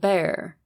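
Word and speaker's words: Bexar: the rural areas of bear pronounced Bear County and terrorized anyone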